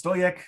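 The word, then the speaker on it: Stojek: I actually, before this call, I asked about the pronunciation of his name, and I learned that it's Stoyek. So Robert Stoyek from EFRAG, thanks for joining us.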